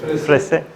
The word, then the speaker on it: Fraïssé: Es un nombre francés que nadie sabe pronunciar. Dinámica. Gracias. Frese.